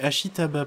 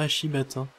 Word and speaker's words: Ashitaba: Ouais, c'est Ashitaba, pas Ashibata.